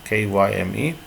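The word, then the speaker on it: chyme: which by that storage is a liquid called chime pronouncing pronounced as crime kyme uh beginning to enter then beginning to enter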